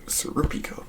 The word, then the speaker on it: Serpico: pronunciations a little bit apparently Serpico is actually pronounced siropica full moon part two